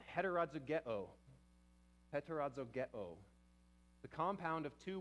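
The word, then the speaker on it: ἑτεροζυγέω: So this word would be pronounced heterozygeo.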